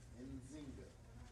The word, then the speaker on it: Nzinga: Now, Alright, this word kind of hard to pronounce, but Zinga, Nzinga. and yeah, that's how you say it.